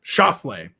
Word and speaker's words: Schauffele: And you got to take the Lee out of it. There's no Lee. Yeah, Lee. Okay. Schauffele. We're talking 2 syllables.